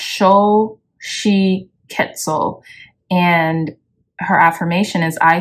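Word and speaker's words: Xochiquetzal: and around you yeah so her name is pronounced Sho she quetzel and her affirmation is I see beauty in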